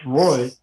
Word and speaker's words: Raya: By the way, Raya is actually pronounced Roy, and Roy means king.